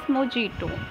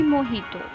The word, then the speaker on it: mojito: Now here the word is mojito, which is commonly mispronounced as mojito, but it is actually mojito.